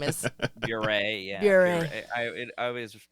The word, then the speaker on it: Bure: Puree, yeah. Puree. I always say it Bure. rhymes with puree.